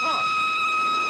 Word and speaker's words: Roy: My name's Roy. You said Roy? No, not even me. Roy. I'm sorry, I can't hear. It rhymes with joy.